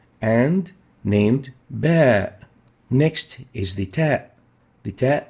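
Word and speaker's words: باء: as a labial letter the bear is named bear as in battery bear battery bear so pronounced and named bear next is the tab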